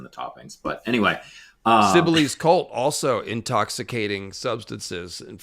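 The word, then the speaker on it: Cybele: And there's even a Sybell's pizza in San Francisco that everyone calls Sybels and not Sibily, but that's all right.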